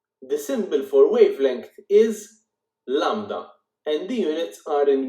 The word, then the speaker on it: lambda: It is not lambda, it is lambda. It is spelled like this, Lambda.